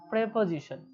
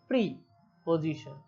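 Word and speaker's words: preposition: প্রেপজিশন। যদি আমি লিখি এখানে এটা লিখলে বোঝা যাবে পজিশন। তো এখানে তোমরা দেখো যদি আমরা সেপারেট উচ্চারণ করি এখানে উচ্চারণ কি আসে? প্রি পজিশন।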